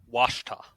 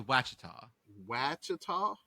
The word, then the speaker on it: Ouachita: I'm gonna say it's Wakita I love that I'm gonna say it wachita it was wachita yeah okay so I'm